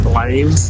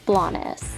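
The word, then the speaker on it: Blanes: little Spain town that us Americans keep mistakenly pronouncing as blaes blaines blaines blaines instead of the proper name blaess I absolutely love it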